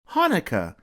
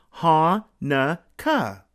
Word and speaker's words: Hanukkah: in the word but no matter how you spell it it's always pronounced the same way Hanukkah say it with me ha na Ka Hanukkah and it's always celebrated